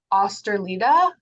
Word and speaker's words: Østerlide: I heard Inger say osterlida yeah that's is that correct yeah I said the first uh the first letter uh is the trick it's a typical Norwegian one uh which is supposed